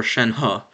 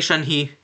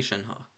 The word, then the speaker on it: Shenhe: i'll be showing why you shouldn't pull for shen ha and also yes that is the proper pronunciation because that is how shen ha says her actually her actual name in the game so don't say shan he say shin ha okay so basically i tested